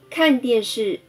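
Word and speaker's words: 看电视: 看电视，看。声调第四声，电声调第四声，视声调第四声。看电视，看电视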